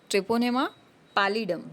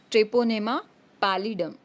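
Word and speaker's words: Treponema pallidum: तो syphilis cause होता है बाय ट्रेपोनेमा पैलिडम. किससे? ट्रेपोनेमा पैलिडम. ट्रेपोनेमा पैलिडम.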